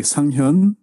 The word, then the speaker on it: Sanghyun: Sanghyun. Sanghyun. Okay, So, got it. Hyun is like a little bit like a H sound. You have to little bit stress on it.